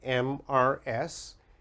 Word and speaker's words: Mrs: The first one, MRS. MRS is pronounced Mrs., Mrs., and Mrs.